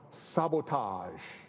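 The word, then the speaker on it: SBTG: companies under his own brand name s btg pronounced sabotage you would never have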